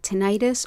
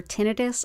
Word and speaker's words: tinnitus: It's great for things like tinnitus or tinnitus. I've heard it pronounced both ways, and that's a constant sound in the ear.